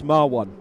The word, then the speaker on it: Marwan: He actually told me how to say his name properly because I completely butchered it the last time out. Yeah, it's Marwan. So you say Marwan.